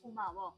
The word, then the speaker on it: 고마워: younger people, we say 고마워.